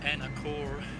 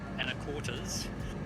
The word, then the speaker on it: Anacortes: So if you've got the map on the little nav map, the peninsula that Anacortes is on, Anacortes, how do you pronounce that? Anacortes? Anacortes.